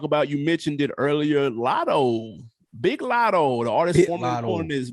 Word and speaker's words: Latto: project i'm a big lotto fan you got to say it like you from atlanta lita g off the bi hard eye lotto oh i i'm ex